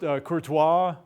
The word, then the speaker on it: Courtois: you pronounce that okay there are lots of different ways that's that's really good cord away caught away I've heard it I've heard it pronounced Kurtis I've never heard it pronounced Courtois that's as we'll talk about